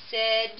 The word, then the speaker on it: said: opposed to over here we have the a i but the word is pronounced with a short e sound said again laid paid raid